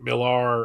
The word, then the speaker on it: Millar: There was rumors that Mark Millar, or Miller, because that's actually how you pronounce it, but it's spelled Millar, is going to be